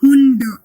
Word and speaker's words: Hund: No, the sound is not T. It is D only. Hund.